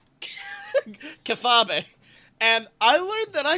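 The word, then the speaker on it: kayfabe: That is pronounced Kefefabe. Kefabe.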